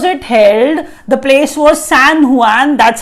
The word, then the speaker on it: San Juan: The place was San Juan, that's how we pronounce it.